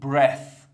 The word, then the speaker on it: breath: این د تا کلمه رو خیلیا با همدیگه اشتباه می‌گیرن و بعد تلفظشون می‌کنن. اولی برث برث که اسم هستش به معنی نفس یا